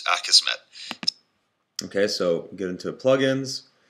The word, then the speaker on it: Akismet: is called I don't actually know how to pronounce it correctly I believe it's akismet okay so get into plugins and then I